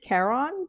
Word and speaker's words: Charon: So actually, there's 3 ways you could say it, like Karen, Sharon. So I've been pronouncing it Charon, but it is a name from Greek myth, not grief myth, Greek myth.